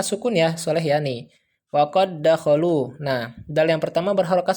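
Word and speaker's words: وَقَد دَّخَلُوا: namun dibacanya tanpa gunnah. Jadi langsung saja wa qad dakhalu, wa qad dakhalu.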